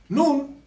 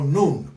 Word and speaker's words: Nun: Entonces, ahora vamos a hablar cada uno de ellos, así rápidamente, Nun es el dios mayor. Aquí está en jeroglífico, ¿verdad? Se pronuncia Nu o Nun, ¿sí?